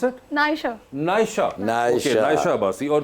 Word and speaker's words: Naisha: हाउ डू you pronounce it? नायशा।